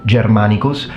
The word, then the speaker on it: Germanicus: Same situation with the G. In ecclesi pronunciation, when G is followed by I and E, it will be pronounced as G. So, Germanicus. Whereas in classical pronunciation, it's always pronounced like a G. So it becomes germanmanicus.